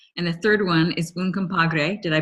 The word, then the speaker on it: Un Compadre: And the third one is Un Compadre. Did I pronounce that right?